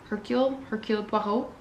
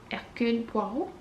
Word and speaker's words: Hercule Poirot: I never know how to say his name, Hercule Poirot, Hercule Poirot.